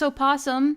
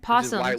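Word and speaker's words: opossum: did it silly circus o posum oh sorry the O is silent posum silly circus posum thank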